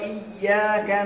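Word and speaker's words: إِيَّاكَ: Iyyaka, Iyyaka, Iyyaka na'budu wa iyyaka nasta'in. Itu yang betul bacaan. Ada sabdunya Iyyaka, tasdid. Yang mana membacanya ditekan. Iyyaka. Ini yang betul.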